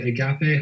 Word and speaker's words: agape: and also thank you, Jeffrey, is it, like, agape? How do you pronounce it?